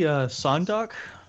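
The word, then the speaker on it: Seondeok: It appears to be Sondok. Yeah. The caret in the pronunciation gets mapped to the U in mud and the A in yawn.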